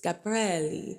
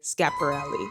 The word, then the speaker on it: Schiaparelli: the video is like, "This is how you pronounce this Italian brand. It's Schiaparelli." But, then he was just like, "But, Americans tend to say Schiaparelli."